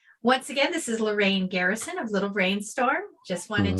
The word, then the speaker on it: Lorran Garrison: jam for unwinding right once again this is lorraine garrison of little brainstorm just wanted to pronounce my name correctly there for the folks